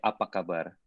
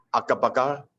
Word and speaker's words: apa kabar: It's saying like, "Hai, apa kabar?" Akapakar?